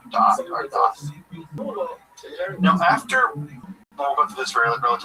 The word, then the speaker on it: da'at: Um, da'at is how you say it in Ashkenazi Hebrew.